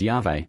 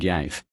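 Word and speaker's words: Yahweh: On the other hand, the four consonants Y HVH can hardly have been pronounced otherwise than as Yave. And this pronunciation is supported by the two Greek writers Theodorit and Epiphanius who say that the word was sounded Yave.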